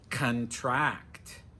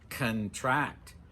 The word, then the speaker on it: contract: Remember, we're going to put the stress on the final syllable. Contract. Contract.